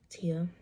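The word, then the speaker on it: Tya: It's spelled T-Y-A, but there's like it's an accent A. My mom told me it's French because she was born in Canada, so my name is actually French, but it is pronounced Tia, like T-I-A, or other different spellings.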